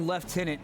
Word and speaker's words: lieutenant: one as well yeah it's like left tenant you know what I mean it's definitely a British rank or at least that's the way they pronounce Lieutenant I'm not sure which